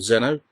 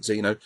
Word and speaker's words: Xeno: As it says, I'm looking at Xeno or Zeno. I always pronounce it Xeno from A&F Software in 1986, which is like one of the sort of future sports sort of titles.